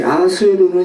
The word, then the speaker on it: 아하수에로: 이 아하수에로는 히브리식 발음이고요.